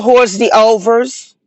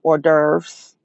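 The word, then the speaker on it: hors d'oeuvres: restaurants asking about uh what a what a horse the overs hor the over over and not knowing that it's pronounced or deres uhhuh now look if you genuinely swirling and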